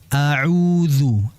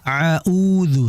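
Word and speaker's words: أعوذ: Auzu. Auzu. Jangan sampai kita membalikkan kedua huruf ini. Jangan sampai yang pertama itu ain, yang keduanya hamzah. Audu. Tidak. Jelas. Ini akan ee berbeda makna nantinya.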